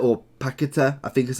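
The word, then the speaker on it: Paquetá: Paqueta, or Paqueta, I think is how you pronounce his name.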